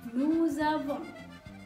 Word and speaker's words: nous avons: Nah, di sini juga ada terdengar pronunciasi z di situ ya, antara nous, als di akhir kata nous, dan juga huruf vokal a di kata avons.